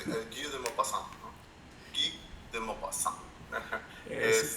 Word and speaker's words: Guy de Maupassant: Sí, de hecho, no, sí lo pronunciaste bien. De hecho, es Guy de Maupassant, ¿no?